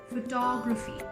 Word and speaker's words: photography: Photography. Just see by adding a Y how the pronunciation changes.